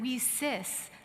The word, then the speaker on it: WiCyS: We often go by our acronym, WICYS, spelled W-I-C-Y-S, and we pronounce it WeSis, like we sisters, because we're a global cyber sisterhood.